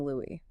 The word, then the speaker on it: Louis: And in it, you can hear her very clearly and casually pronouncing her late husband's name as Louie.